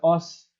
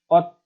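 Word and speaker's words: 옷: sudah o ditambahkan S dibacanya bukan OS melainkan ot karena di sini tadi satu huruf satu bunyi OD kemudian ga dan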